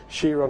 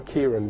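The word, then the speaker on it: Chiron: and we also have shiron or Kiran depending on how you want to pronounce it now the interesting thing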